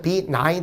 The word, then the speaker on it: benign: 발음은 이제 benign 되죠. G가 무구명 현상이 되는데 요거는 이제 상냥하고 친절하고 다시 말해서 kind 정도로 여러분이 이제 보시게 되면 됩니다.